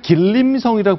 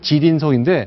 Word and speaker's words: 지린성: 예전에 우리가 길림성이라고 불렀던 것이 중국식 발음대로 하면 지린성인데 네.